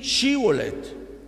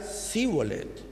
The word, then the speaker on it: Shibolet: Si él respondía no, entonces le decían: ahora pues di Shibolet. Y él decía Sibolet, porque no podía pronunciarlo correctamente.